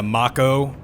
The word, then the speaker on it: Mako: seen one like this I know there's a couple of pronunciation choices they make that bum me out but they are more accurate I guess but yeah mock Oh I always said Mako even though I now